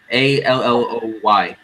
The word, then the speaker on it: Aloy: Aloy, yeah, Alloy, yeah. Great name. Aloy. My name is Aloy or Aloy. Aloy, yeah, Aloy is how you pronounce her name.